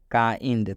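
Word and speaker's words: kind: तो जब भी आई कब आना चाहिए, तो जब भी आई के बाद एन डी आता है तो इस आई का उच्चारण आई हो जाता है।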